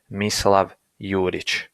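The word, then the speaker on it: Mislav Jurić: first step is identification I identify myself as mislav yurich okay and that is how my name is actually pronounced but I always have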